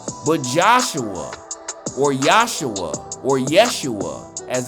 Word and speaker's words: Yeshua: But Joshua, or Yahshua, or Yeshua, as it's pronounced, the son of Nun, which standeth before thee, he shall go in thither.